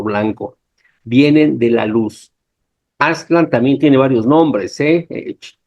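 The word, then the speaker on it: Aztlan: lugar conocido como aslan lo voy a decir todos sin agudos porque parece que así se pronunciaban aslan a ve decimos aslán que también tiene que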